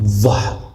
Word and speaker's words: ظهر: ذیل، ذیل دوم است، اما ظهر، ظهر. فرق بین ذال و ظا در چی هست که ذا نرم ادا میشه، مرقق گفته میشه، و ظا مفخم یا پر.